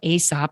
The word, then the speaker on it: Aesop: like the fables right some people call it aesop i call it esop who cares what it's called but it's spelled a-e-s-o-p and um the idea